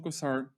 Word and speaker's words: Cossar: oh by the way psychology today uh kosar right that's how we pronounce it kosar welcome to the podcast happy to have you